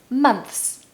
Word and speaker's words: months: possessions number five is months months months even native people find it difficult to make the THS sound especially when you're speaking